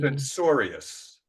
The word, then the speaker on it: censorious: So it's a soft C as opposed to a hard C like cache, cacophony, and catalyst.